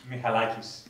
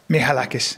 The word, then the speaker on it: Michalakis: Michalakis. That's right. Michalakis.